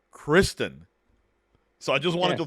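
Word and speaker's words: Criston: say it right now we call them sir Christian Sir Christopher sir Kirsten it's sir Kristen so I just wanted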